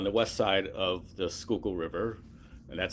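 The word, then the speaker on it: Schuylkill: Um, and, uh, the main one here in Philadelphia is in Fairmount Park on the west side of the Skookul River, and that's how it's pronounced.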